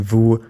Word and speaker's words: vous: Next, don't pronounce every final letter you see. The s in vous, nous, il, and elle is usually silent.